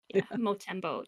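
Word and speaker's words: Montembeault: But Montreal too, despite being without Patrick Laine, the goalie Sam Motembo, Motembo.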